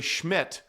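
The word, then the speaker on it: Szmyt: Uh we saw the young kicker, Andre Schmidt, although it doesn't look like it's spelled that way for the Cleveland Browns.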